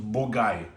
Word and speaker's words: Bourgueil: So you can see the Lir River cuts right through here and you've got Shinol here and you've got Bogai right here. And it's pronounced Bulgai.